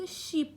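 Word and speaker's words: sheep: شپ شپ شپ شپ اما گوسفند به معنی ببخشید با تلفظ شیپ خونده میشه اون سری در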